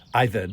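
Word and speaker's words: עֶבֶד: The Hebrew word there is Ibed. Ibed, is how you say it.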